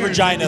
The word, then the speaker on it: Regina: He's got an interview with our residential Canadian from Regina. Go ahead, Omar. You pronounced it great, and Drew will be happy to hear that. They said Regina the right way for you.